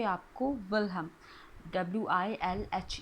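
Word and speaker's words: Wilhelm: 19th century में विलियम want कहीं पर देखिए यह स्पेलिंग आपको लिखा मिलेगा डब्ल्यू आई एल एल आई एम और कहीं पे आपको विलहम डब्ल्यू आई एल एच ई एल एम तो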